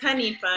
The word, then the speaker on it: Hanifa: Hanifa? Hanifa. I always say it wrong, and I feel like I say it wrong. It's Hanifa.